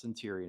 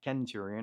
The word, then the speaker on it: Centurion: I really wanted to get a Centurion, and yes, I know it's pronounced Centurion and not Kenturion.